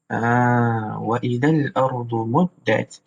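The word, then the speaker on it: مُدَّتْ: Muddat. Ada yang bacanya panjang. Kita baca dengan kaedah yang betul. Wa idhal ardu muddat. Wa idhal ardu muddat.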